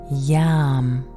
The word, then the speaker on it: YAM: And here, we immediately sound the mantra YAM. Y-A-M. The Y is pronounced like a J.